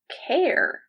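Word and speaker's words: Cahir: It's Irish, and it's pronounced care.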